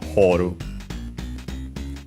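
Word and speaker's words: 彫る: Uh then here it says uh usually okay simply as horu because technically there's also another uh pronunciation but hor is the usual one for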